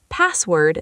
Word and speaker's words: password: Deep dive password stress the pass again.